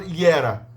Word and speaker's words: era: Em romeno é pronunciado, é escrito era, mas é falado iera.